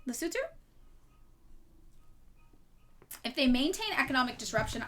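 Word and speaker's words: Lesotho: country that I have recently learned is not pronounced lass though and is pronounced lutu, right? Lutu.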